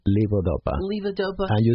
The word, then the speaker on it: levodopa: Levodopa. Levodopa. And you spell it L-E-V as in Victor O, D as in Delta O, P-A, right, as in apple.